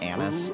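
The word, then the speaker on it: Anise: It's like anis. A n i s e. Like star anis.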